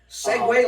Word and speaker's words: segue: Segue like the things that you tilt forward and back on and yes, exactly.